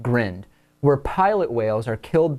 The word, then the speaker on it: grind: thing called a green it's spelled just like grind but it's pronounced grand we're pilot whales are